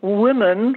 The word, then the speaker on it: women: to tell Willie Jackson woman is pronounced woman for singular and women for plural just saying no that's